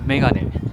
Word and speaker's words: 眼鏡: 們日文的這個發音 Megane。